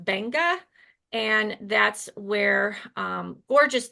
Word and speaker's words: Beqa: I've been calling it Beekqua for so long, but it's pronounced Banga.